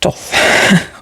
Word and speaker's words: Thoth: Oh, it's pronounced Thoth.